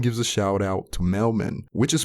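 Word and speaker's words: Mel-Man: a shout out to mailman which is pronounced like mailman and mailman is a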